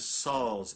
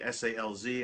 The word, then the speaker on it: Salz: My last name is Salz, S-A-L-Z, as opposed to salt with a T, S-A-L-Z.